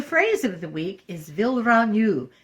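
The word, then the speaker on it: vilranyuh: of the week is villaranu the naturim word for thank you it's spelled v-i-l-r-a-n-y-u-h with a rolled R will you this week's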